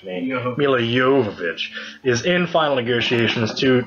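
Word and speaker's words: Milla Jovovich: But it does appear, breaking news here, Resident Evil star Mila Jovovich, that's actually how you pronounce me, Mila Jovovich, is in final negotiations to join the new Hellboy reboot, playing the villainous Blood Queen.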